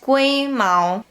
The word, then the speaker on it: 龜毛: This word comes from Taiwanese, where it is pronounced 龟毛. In Mandarin, it's 龟毛.